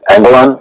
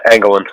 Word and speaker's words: Anglin: Is it Anglon? Or how do you say your name? Yeah, Anglin.